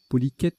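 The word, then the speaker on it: polychète: îlot cher polish est poli quête ça se prononce polique est un ver marin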